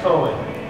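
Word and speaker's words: Koan: But my youngest is Cohen, and he's 10 years old.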